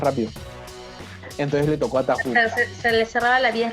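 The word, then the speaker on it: Tarrou: Se escribe Tarru, pero se pronuncia Tahu.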